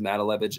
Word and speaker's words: Matylewicz: out for you um it's and that last name is Mata levage m-a-t-y-l-e-w-i-c-z and if any of